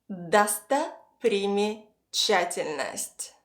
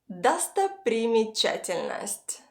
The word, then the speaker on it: достопримечательность: Достопримечательность. Достопримечательность. Достопримечательность.